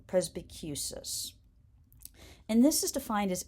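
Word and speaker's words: presbycusis: So it's pres as in president, B as in bumblebee, Q as in barbecue, and the stress is on the Q syllable, and cis as in sister. So presbicus.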